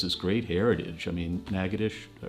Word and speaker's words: Natchitoches: I mean, Natchitoches, I pronounced that correct, but Natchitoches, and the Creole farms and plantations.